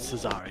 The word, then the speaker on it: Cesare: It is Cesare. That is the correct pronunciation.